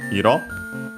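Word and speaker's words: いろ: And yeah, after that we have the noun iro. We have seen it both on its own, but that in the previous series, I think. Accented on the last syllable, means color. Can also be used as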